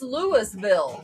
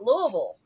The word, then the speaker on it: Lewisville: say Louisville because it's it's the same general pronunciation as the other Lewis.